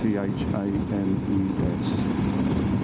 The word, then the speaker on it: Thames: Yeah, for those people that are watching outside the UK, Thames is spelled T-H-A-M-E-S, but it's actually pronounced Thames, as in T-E-M-S.